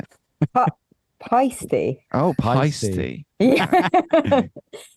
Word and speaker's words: Paiste: Also, is it pasty or Paiste? Yeah. How do you say it? Paiste.